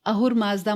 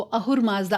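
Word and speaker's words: Ahura Mazda: हम जानते हैं कि परर्शियन लैंग्वेज में एस को एच प्रोनाउंस किया जाता है। कई जगहों पर हर जगह नहीं कई जगह पर स का जो साउंड है उसको ह बोला जाता है।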